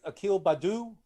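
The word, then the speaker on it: Akil Baddoo: Rookie, Detroit, Akil Badu.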